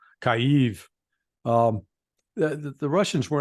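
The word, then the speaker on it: Kyiv: I call it remember Kiev is the Russian pronunciation so I'll stick with the Ukrainian Kiev kaive um the the Russians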